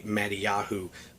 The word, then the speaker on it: Mattiyahu: So on one page it will say Matthew, and then on the opposing page it will say Mattiyahu, which is the Hebrew pronunciation of his name.